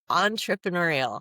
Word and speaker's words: entrepreneurial: On entrepreneurial. Entrepreneur. Entrepreneur. Oh my gosh. Is this ridiculous? No, it's that second R is a nightmare.